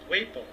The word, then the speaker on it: Waple: Also, a thank you for a donation from Catherine and Robert Waple. I had to think about it because you were kind enough to tell me that it rhymes with maple, so I would pronounce it correctly.